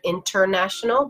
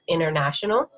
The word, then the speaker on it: international: Another example is international. So instead of international, but international.